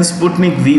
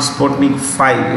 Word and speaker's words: Sputnik V: It is not Sputnik 5. It is Sputnik V. V is what we say. V is vaccine. V is vaccine. It is not nothing to do with what we say. The Roman numeral. It is V for letter basically, okay?